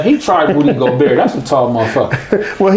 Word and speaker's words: Rudy Gobert: Rudy Gobert.